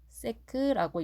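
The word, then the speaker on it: sec: 자, 얘를 뭐라고 읽냐면 s라고 읽는 게 아닙니다. 세크라고 읽습니다.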